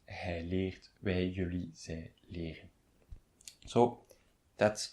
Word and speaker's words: leren: So there's just before the en, there's a single consonant, that's R, and just before the single consonant, there's a single vowel, and that is pronounced longly. It's leren. It's not leren or leren. No, it's leren.